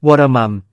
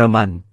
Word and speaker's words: วรม: สร้าง ปราสาท อยู่ เลย ผม อ่าน ชื่อ วรม เพราะ อ่าน ตาม จารึก ไม่ ได้ อ่าน ว่า วรมัน เพราะ เป็น คำ เพี้ยน มา จาก วรม ก็ นำ หลัก ฐาน